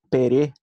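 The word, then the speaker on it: ペレ: É claro que a gente talvez pense se é assim ou não, porque o som do é não existe no japonês, existe e, não existe é.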